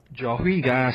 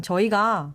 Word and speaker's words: 저희가: pronouncing every syllable, Yeah, right? you don't need to do that. It can be more smoother. Become 저희가. 저희가. Doesn't really sound the H.